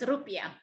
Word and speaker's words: rupiah: Yes, it's rupiah.